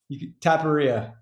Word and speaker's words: Taparia: conversation you know our guest today is taparia am i pronouncing that right yeah it's good enough what what's the right way taparia there we go okay taparia entrepreneur investor